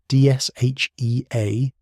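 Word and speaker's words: DSHEA: The Dietary Supplement Health and Education Act, Dsha, pronounced like the word SHA, had fundamentally restructured the regulatory relationship between the US government and the supplement industry.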